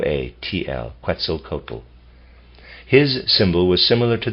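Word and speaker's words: Quetzalcoatl: nature cretzel cotal was never also excuse me quel cotal also never appeared directly incarnated quel cotal is spelled Q e t z a l c o a TL quel cotal his symbol was similar to the Mercury staff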